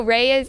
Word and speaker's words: Rae: So Ray it's spelled R-A-E.